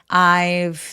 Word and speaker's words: I've: 대신 I've never 이런 식으로 B처럼 들리지 않도록 I've never 이렇게 V를 약간 F처럼 바람 소리만 느껴지게 해주시면 좋아요. 자음 앞에서의 V 소리는 아주 가볍게 F로 발음한다.